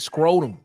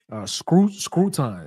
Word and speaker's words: Scruton: We got to get some guys to go with Nick Scrotum. I'm not Scrotum. How do you say his name? Scruton.